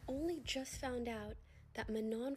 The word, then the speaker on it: Manon: I am so embarrassed because I only just found out that Manon from Cat's Eye's name is actually pronounced Manon.